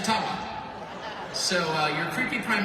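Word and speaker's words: Ottawa: Nations leader who said actually it's it's called the tawa and they've been for mispronouncing it all these years I'm not making that up and if you have any A J friends ask them yeah it's a tawa so uh your creepy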